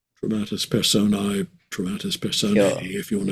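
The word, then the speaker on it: dramatis personae: So, I don't have the probably the best pronunciation, but dramatist person A. Is that how you say it? Dramatus persona.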